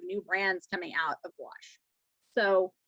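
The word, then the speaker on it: gouache: had questions here about wash which is how it's pronounced um it's french so yes it looks really weird but that's why it's pronounced wash now wash is specifically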